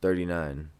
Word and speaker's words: THXRTY9INE: You spell it THXRTY9INE 39. Oh, okay. So it's spelled out weird, but yeah.